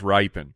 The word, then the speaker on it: Rypien: It's pronounced Rypien.